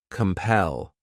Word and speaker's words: compel: The next verb is compel. This word has 2 syllables, and the stress is on that second syllable. Compel.